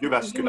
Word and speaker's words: Jyväskylä: And I think I cannot pronounce the name of the university, Jyväskylä. I help you, University of Jyväskylä.